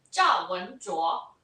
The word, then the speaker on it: 赵文卓: How do you pronounce his name? What, the main guy? Yeah. In Mandarin, 赵文卓.